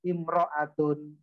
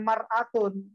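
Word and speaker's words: امرأة: Almar'atu biduni al imro'atun. Kalau ma'rifah bacanya almar'atu. Ketika nakiro bukan mar'atun. Nggak ada kata-kata mar'atun.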